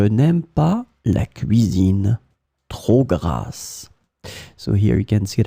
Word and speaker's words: grasse: In this lesson, we will discover together two words that are written differently but pronounced the same way.